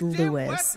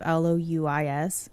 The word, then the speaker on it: Louis: Oh, it's pronounced Lewis. Every time I see that spelling of L-O-U-I-S, I always think it's Louis. Lewis.